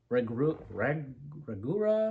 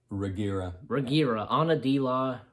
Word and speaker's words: Reguera: All right, and Ana de la Regura, I want to say. Wait a second. It's spelled Reguera.